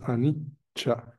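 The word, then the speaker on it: anicca: la primera es impermanencia es anicha a c se pronuncia como cha en pali independientemente de la vocal que le siga Ah y la segunda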